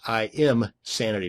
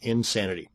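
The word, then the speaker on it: Imsanity: That's I amsanity, not insanity.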